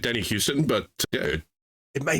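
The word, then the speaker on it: Huston: it hust Danny hust Houston that's what I thought but it's h s t n it's not Houston Houston has an o in it the city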